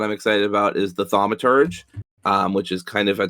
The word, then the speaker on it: Thaumaturge: and I don't know a lot about the Thaumaturge. Is that how you say it? Thaumaturge.